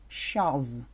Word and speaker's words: щаз: И оно произносится как... Щаз. Мы акцентрируем произношение на звуке «з». Щаз.